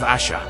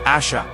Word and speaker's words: Ash: of the kin of Asha we return to the hill Ash not Asha but Ash Ross though sure of that pronunciation was still cautious you